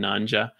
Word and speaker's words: Nyanja: And even in Google, you can Google stuff for phrases in Nanja. It's spelled like Nyanja. So Nyanja, Nya is the spelling at the front.